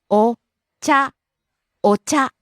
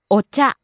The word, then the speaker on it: お茶: にぎやか、 Next, お茶、 tea, and usually means green tea, お茶、お茶、 rising on the second syllable Cha. お茶、 Next, 社長、 president, 社長、社長、 rising on the second syllable Cho.